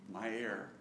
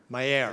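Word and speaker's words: Maier: Mayer. Mayer. As in breathing my air, so to speak.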